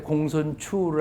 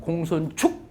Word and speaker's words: 공손추: 그리고 맹자 잘못 읽은 사람한테 공손추를 아니고 공손축 맹자 읽었다고 그럽니다.